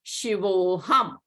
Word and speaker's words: Shivoham: So again, A will be elided and not pronounced. So it will be Shivoham.